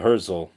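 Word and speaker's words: Herzl: Yeah, Herszel. But it's not spelled like Herzel, like a Hurse and Nestle Crunch.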